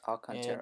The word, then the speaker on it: Alcantara: wires along the contour here yes the correct pronunciation is all concern it is pushed on the inside and under